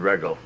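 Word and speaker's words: Wreggel: I should know Regel is spelled W-R-E-G-G-E-L. What's that again? W-R-E. W-R-E, oh, Regel. Sure. Who knew W? That would be Regel.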